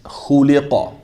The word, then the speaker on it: خُلِقَ: And at the end of it, we have that qaf, which should be pronounced with what? A little pop, qalqala, right? So that's khuliqa, khuliqa, خلق khuliqa.